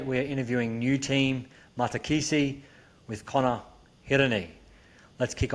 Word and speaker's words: Matakesi: Tell us about Matakesi. Am I pronouncing that correctly as well?